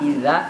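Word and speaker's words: إِذَا: Jadi manakala ada huruf berbaris fathah bertemu dengan alif, maka dibaca panjang, 2 harokat. Iza, ya. Jangan dibaca pendek, salah.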